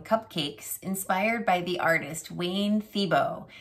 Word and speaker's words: Thiebaud: inspired by the artist wayne thibo his name is spelled thiebaud but it's pronounced thibo he's an american artist